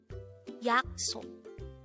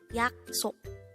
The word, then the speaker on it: 약속: 약속. 약속. This is pronounced as a two-syllable word. The first syllable is yak, the second syllable is sok. Pronounce it with me. 약속. 약속. The word yaksok is simply the Korean noun for promise.